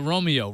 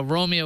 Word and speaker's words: Roamio: say hello to the Romeo Romeo plus and the Romeo Pro now Romeo is spelled r o a m IO as in wandering around because these devices